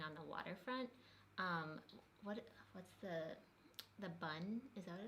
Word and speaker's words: Bund: No, it's called the Bund. In Shanghai, there's the Bund, which is the Bund. Bund. B-U-N-D, That's it. Bund. You're right. I was saying it wrong.